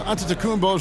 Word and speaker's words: Antetokounmpo: be right back after this you and pronouncing Giannis antetokounmpo many something he discussed before today's game the